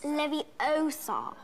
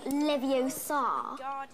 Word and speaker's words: Leviosa: someone's eye out besides you're saying it wrong it's Leviosa not Livio sod you do it then